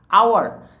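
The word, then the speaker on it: hour: আওয়ার, দেখো এটা কিন্তু হাওয়ার উচ্চারণ করবো না, কি উচ্চারণ করবা? আওয়ার, আওয়ার মানে ঘন্টা। ঠিক আছে, এই এইচটা হলো সাইলেন্ট এইচ, এই এইচটা কি? Silent H.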